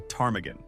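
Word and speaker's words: ptarmigan: You have absolutely no idea how to spell tarmaggan. P t a r m i g a n. The miners looked at that silent p and the confusing sequence of vowels and collectively decided, nope.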